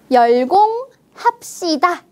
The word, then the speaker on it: 열공합시다: 들어 있습니다 어떻게 읽어요 열공 합시다 열공 합시다네 여기에 바로 경음화 규칙을 볼 수 있네요 스 자음이 받침에 브를 만나서 열공합시다라는 경험으로 발음합니다 같이 읽어 볼까요 열공